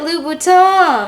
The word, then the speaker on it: Louboutin: have so many sneakers louboutin not louboutin it's a french brand pronounce it louboutin oh my french teacher